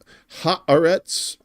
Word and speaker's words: Haaretz: I was told this is Haaretz. We'll try to say it like that.